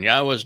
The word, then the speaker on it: Yahweh: I go through this with you and use these four words because they prove emphatically that the proper pronunciation of Yahweh's name is as I have pronounced it, Yahweh.